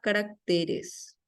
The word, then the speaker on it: caracteres: varios regímenes autoritarios y carácter pluraliza caracteres sin tilde carácter pluraliza caracteres con